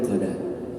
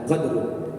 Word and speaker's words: qadar: malam Qadar atau Lailatul Qadar. Yang pertama, ulama mengartikan bahwa Lailatul Qadar ini adalah malam pentakdiran dan malam penentuan. Malam pentakdiran dan malam penentuan. Karena di situ dibacanya qadar, bukan qadru.